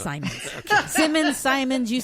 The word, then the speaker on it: Simons: yes I did wait a minute it's Sean Simons so it's not Simmons it's not Simmons it's Simons Simmons Simons you say tomato I say tomato it's spelled the same way no one M or